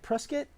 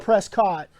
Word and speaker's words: Prescott: 5th we are in prescott valley that's how you say it right prescott or out of towners call it prescott but you guys call